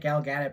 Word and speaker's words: Gal Gadot: I kept pronouncing it Gal Gadot, but it's Gal Gadot.